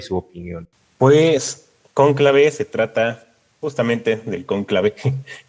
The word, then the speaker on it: Conclave: con esta película que se llama cónclave en español que van a hacer el mismo título en inglés pero se pronuncia diferente conclave y pues esa es